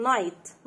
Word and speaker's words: night: بعد كده عندنا برضو الكلمات التانية sun screen يعني كريم واقي من الشمس، sun screen، sun screen ليل night، عندنا جي اتش silent night، night جبنة cheese، cheese earth rice، rice طعام مصنوع من الحبوب، يعني ايه cereal، cereal، cereal كاميرا، كاميرا، كاميرا.